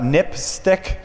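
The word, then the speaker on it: NPSTC: Um there are some recommendations by um the National Public Safety Telecommunications Commission um which is pronounced uh NIP stick which is kind of a odd uh acronym name.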